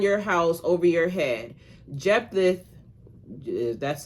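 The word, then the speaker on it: Jephthah: Jeepath, that's how you pronounce pronounce his name, answered answered, I and my people were engaged in a great struggle with the Amomites.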